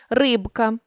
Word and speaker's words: рибка: рідко та навіть більше у кінці слова та перед глухим дзвінкі приголосні не оглушуються у більшості слів рибка ложка сторож вимовляємо дзвінкі приголосні у цих словах виразно і чітко не оглушуємо їх але є 5 слів